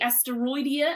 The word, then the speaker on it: Asteroidia: Race number 4, a filly, Asteroidia, I think, as we discussed beforehand, the correct way to pronounce it.